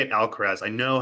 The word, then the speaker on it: Alcaraz: I'll say it Alcaraz.